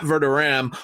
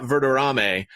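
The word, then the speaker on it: Verderame: his super bowl uh version it is matt vertoram who i've been mispronouncing as matt verdurame uh for for the last few weeks uh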